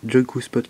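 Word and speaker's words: Joikuspot: Donc Joy-Q-Spot qui s'écrit J-O-I-K-U-S-P-O-T.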